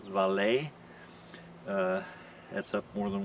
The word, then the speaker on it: VALE: which is viacom cbs v-a-l-e which i guess is pronounced valet uh that's up more